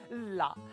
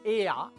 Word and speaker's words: la: La, ma invece di pronunciarne EA, i me pronuncia L-A, la. La se comoda cara ella, che l'ha fatto un bel viaggio. Ah! E invece mi esisto, so EA L, ma veneziana, che si pronuncia EA, ma si scrive L.